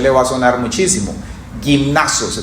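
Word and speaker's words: γυμνάζω: Gimnazio se pronuncia en griego, de donde viene la palabra gimnasio.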